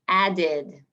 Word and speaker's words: added: Si la palabra antes de la terminación termina en el sonido de D o T, hay que tener otra sílaba que suena como ed. Entonces, por ejemplo, add tiene el sonido al final de D. Entonces se convierte en added.